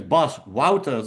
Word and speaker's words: Bas Wouters: Uh, my name is Bos Woutters is the pronunciation. You write it as boss waters.